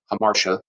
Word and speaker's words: hamartia: Fatal character flaws or errors in judgment, hamartia, or I've also heard it pronounced hamartia. I suppose either one's fine. I'm not an expert on it. I'm just going to say hamartia.